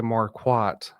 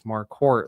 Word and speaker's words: Marquardt: And so that's why when I started practicing law, I told everybody it's Marquardt, like a quart of milk.